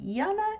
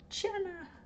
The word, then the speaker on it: Jana: And that's why we say Yana instead of Jana. Because I think you're in the Netherlands, aren't you? They spell it with a J.